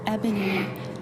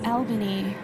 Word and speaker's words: ebony: In the recording, I mispronounce the word ebony as Albany, related to the Latin albus, meaning white.